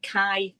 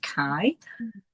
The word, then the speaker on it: Kay: of the Moon by Kai Neielen. So I always thought it was pronounced K Nielson but apparently because he's Danish it's pronounced Kai.